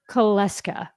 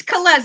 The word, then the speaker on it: Kulesza: industry I welcome today kesa I probably mispronounced that please correct me it's kza it's okay there's usually a lot more vows in there but it's all good ah yes I always